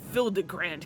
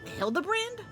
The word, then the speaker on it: Hildibrand: Since parting ways, I've searched every alley in Daar and Ever for signs of this filigrand character. It's pronounced Hilda brand.